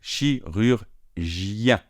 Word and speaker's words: chirurgien: Alors ici, le gien, attention, c'est un je, donc c'est pas comme chocolat, c'est plus léger, il y a l'air qui passe davantage, comme je, d'accord? Donc chirurgien, ien, avec la nasale finale, un, chirurgien.